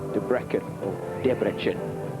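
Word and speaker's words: Debrecen: took gold on the floor that was in debrecken as we learned to pronounce it in hungary we're underway that's a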